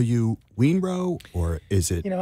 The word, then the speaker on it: Yunrou: but it's pronounced Wenroe and Monk Wenroe was a wonderful guest of